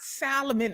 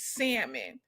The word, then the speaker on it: salmon: It's it's not salmon, it's salmon. It's salmon. Huh? When you see a named Sal, do you say Sa? Hey Sa? No, you say Sal. It's A silent letter.